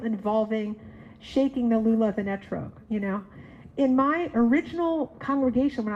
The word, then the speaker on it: etrog: Etrog. Oh, if you're Yiddish speaking, you'd say esrog, right? I'm sure some of you say it that way.